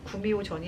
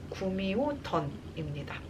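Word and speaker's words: 구미호뎐: 그리고 두 번째 기대작은 배우 이동욱 씨 주연의, 발음이 좀 어려워요, 구미호 전이 아니라 구미호 던입니다.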